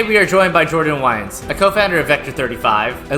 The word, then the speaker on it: Wiens: Yeah, I think it's originally like Wiens, but like we've always pronounced it Wiens in my family and spelled it that way.